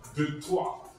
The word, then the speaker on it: Detroit: Detroit is eigenlijk verkeerd uitgesproken. Het is Detroit. Toch? Ja. Ja, Detroit. Het is een Franse kolonie die overgenomen wordt door de Amerikanen.